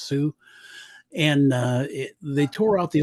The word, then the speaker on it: Sault: Marie, which is spelt salt but pronounced Sioux.